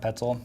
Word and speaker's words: Petzl: Yep, Petzl.